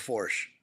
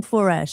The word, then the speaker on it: Foersch: Porsche with Forch. There you go. Okay. I'll remember that now. Say, Yep. I keep saying foresh.